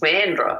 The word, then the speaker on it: Sandra: Sandra, Sandra, pronounced Sandra over here.